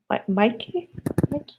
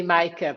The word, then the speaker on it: Mica: know maybe uh uh mikey am i pronouncing your name right yeah yeah correct yeah well it's actually mica but it's really difficult so i listened to mikey as well yeah uh yeah it's